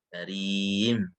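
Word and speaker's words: كريم: Yang idza ma kusirat contohnya itu adalah karim, misalkan apabila ada kasrah berarti karim, maka karim dibaca tarkik karim, seperti itu.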